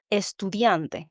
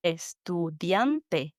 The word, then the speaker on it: estudiante: My final example is of a 4-syllable word. Estudiante. Estudiante. The emphasis is on the diam, the second to last syllable.